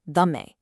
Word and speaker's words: dhamme: So, the word for the truth or the teaching, which in the scriptural language Pali is dhammo, would have been pronounced dhamme by the Buddha.